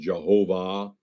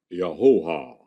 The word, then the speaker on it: Jehovah: But the Hebrews said Yahoah. Same word as Jehovah. 3 syllables, not 2. Not Yahweh. Yahoah. Yahoah. Yahoah. Notice, no consonants. You can say it without closing your oral passage.